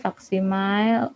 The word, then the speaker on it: faksimile: pakai telepon seperti ini faksimile faksimile ya faksimil dibacanya seperti ini ini yang benar jadi perhatikan PT tidak